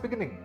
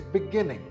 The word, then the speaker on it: beginning: This word is not beginning. This word is beginning. The second syllable is stressed.